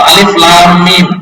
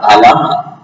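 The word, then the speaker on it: الم: Alif fa ini tidak ada, tapi ketika dibaca qaf, atau di Quran qaf atau alif lam mim, jangan dibaca alam.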